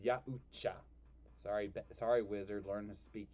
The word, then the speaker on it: Yautja: It's pronounced Yautja.